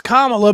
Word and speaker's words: Kamala: this week too mispronouncing I'm gonna keep saying it Kamala I don't give a if it is Kamala Kamala it's Kamala but it but it makes